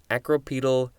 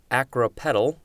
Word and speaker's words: acropetal: below upward as in acropedal development or of floral buds acropedyle is the adverb and i think i pronounced it wrong i think it's acropetal and petal is like a petal of a flower which is why you've